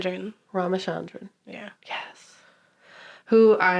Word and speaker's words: Ramachandran: Ramachandran.